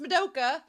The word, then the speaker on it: Madoka: Gus Na told me on YouTube that it's pronounced Madoka. I was right. I thought from the first episode it was Madoka, but then in the episode it seemed like they're saying Madoka, and I was like, what is happening? But he said it's Madoka.